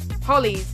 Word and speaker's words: Höljes: Höljes.